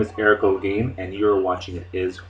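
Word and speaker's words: Holguin: just pronounce o g the H is silent um I I can't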